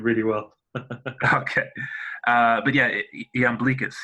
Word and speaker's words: Iamblichus: But yeah, Iamblichus.